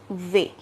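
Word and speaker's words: vais: a i s here our last letter s is silent and v means to go and here's the pronunciation v so it becomes jo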